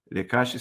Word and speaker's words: Leqashy: Lecashe se escreve L-E-Q-A-S-H-Y.